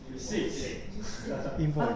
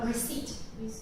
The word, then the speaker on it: receipt: Receipt. Receipt. Don't pronounce P. Receipt. Please omit P. Receipt.